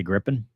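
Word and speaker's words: Gripen: I don't know why people get mad of the way we say grippin say it right that is that is the way I I went back and watched the interview I had with the soab guys and that's what they said I don't know griping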